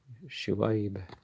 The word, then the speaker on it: Shoaib: Shoaib is how you're supposed to pronounce it.